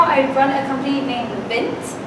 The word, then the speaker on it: VINT: Right now I run a company named VINT. VINT is spelled mint, but with a V to get a good understanding.